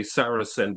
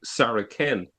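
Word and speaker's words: Saracen: is they forget that in Latin the the C the letter C was originally pronounced with a K. So in the early centuries you wouldn't say sarasen but you would say saraken. That's how it was pronounced and and the same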